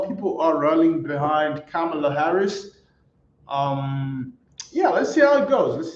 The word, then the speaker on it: Kamala: let's good for Cela uh I used to pronounce it as Kamala but I heard like camela okay that's how it's pronounced okay uh camela Harris okay uh Bitcoin okay let's go Trump